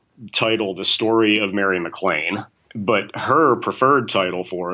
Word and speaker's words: MacLane: And the book was published under the title, The Story of Mary McLean.